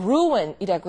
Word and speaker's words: ruin: 그다음은 아 ruin이란 단어가 나오는데 그 루인이라고 하지 않고 r루이라고 해서 어떤 걸 그릇치고 망친다.